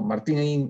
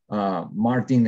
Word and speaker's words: Martín: Y el Martín, bueno, Martín en español, Martin en inglés, ¿no?